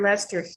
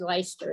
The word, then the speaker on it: Leicester: um but anyhow absolutely border lester here lester okay because out west they said leicester and i just always so i'm afraid to say it because i'll say it wrong anyhow i started with